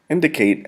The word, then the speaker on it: indicate: If you have already noticed, the accent is placed in the first syllable of indicate. Indicate. We do not say indicate. We don't say indicate. Say indicate. Right here is where we place the accent.